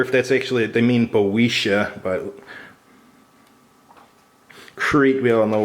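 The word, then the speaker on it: Boeotia: heard the pronoun so yeah it is boisha okay it's got your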